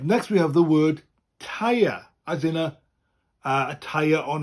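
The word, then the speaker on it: teiar: T-E-I-A-R, and it's spelled the same way as in English, but with a rolling R.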